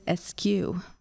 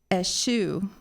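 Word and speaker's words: eschew: from or to shun are there any alternate pronunciations yes yes the most common is Esq s sorry I'm sorry s Esq ASU those are all pronunciations of this word S2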